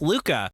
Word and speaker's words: Luka: contain the name of the protagonist, Luka, or Ruka as it's pronounced in Japanese.